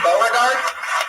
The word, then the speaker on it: Bard: with it Bard m is that how you say your name Bard yeah thanks for the pronunciation people usually get at wrong what's that people usually